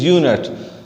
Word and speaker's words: unit: So over here, unit is not pronounced as a vowel sound. It is not started with vowel sound.